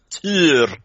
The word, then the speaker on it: Tyr: Yeah, it's like I play some Smite as well, and they have Tyr there, and all the Americans pronounce him, Tyr. No, it's not like a tear falling down your cheek. It's Tyr.